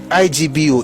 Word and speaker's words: Igbo: The word is now usually spelled and pronounced ibo o ebo but to the native it is Igbo o ego.